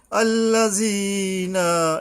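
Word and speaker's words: الَّذِينَ: আল্লাযিনা, এই জি জাল উচ্চারণের সাবধান। ইয়ার উপর একালিপ টানতে হবে।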